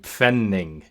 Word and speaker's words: Pfennig: So a pf sound, like pfennig, penny.